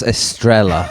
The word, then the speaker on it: Estrella: That's Estrella, It's or very confusing. probably, I don't know, it's pronounced Estrella.